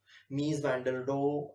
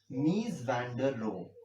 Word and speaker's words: Mies van der Rohe: and his name is miss van der Rohe Mies van der Rohe I think you guys can google this man so it is spelled as nice is his first letter van der Rohe Mies van der Rohe Mies van der Rohe is somebody who also